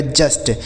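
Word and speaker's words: just: जे से हो गया दोस्तों ज यू का उच्चारण हो गया एस से आधा स और टी से हो गया ट लिखा गया जस्ट जे यू एस टी जस्ट डी यू एस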